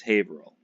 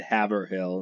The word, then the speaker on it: Haverhill: somewhere and some time he goes from have a hell it's pronounced Haverhill but to the Hicks that lived there they wanted to have her hell and there's a lot